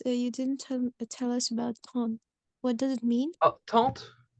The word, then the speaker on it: tante: We have tante, okay? And the E again is not pronounced.